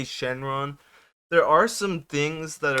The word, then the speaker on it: Shenron: that's Shenron it's Shen it's spelled shenlong in the manga but it's they say Shenron there are some things